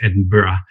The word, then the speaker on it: Edinburgh: the scholarship i got by the way it's edinburgh but you never ask an englishman to to correct a pronunciation to an american so forgive me for